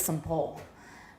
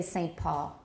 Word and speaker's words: Saint Paul: some pools some pools in british english some some polls this but i don't say it that way in america because i'm from a city called saint paul and nobody says some pole we say saint paul woman mayo it sounds